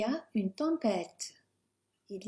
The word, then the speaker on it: tempête: Notice with the T, in English we'd be wanting to say T, so tempête is very English sounding. Soften it almost to a D, but not too much.